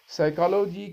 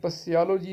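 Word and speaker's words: psychology: साइकोलॉजी क्या है, यहाँ पर पी साइलेंट है डियर स्टूडेंट, इसको साइकोलॉजी पढ़ते हैं, पसियोलॉजी नहीं पढ़ना, साइकोलॉजी।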